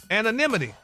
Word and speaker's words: anonymity: in syllables. ANONYNMIT. Anonymity. Okay. You said it right.